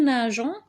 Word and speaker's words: nageons: doit rajouter ce petit e qui fait qu'en prononce nous nageons au lieu de nous un grand d'accord donc